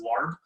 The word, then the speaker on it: Laab: Sometimes like the Thai version or the Thai pronunciation, or sometimes people pronounce it as larb. We pronounce it as Laab at home.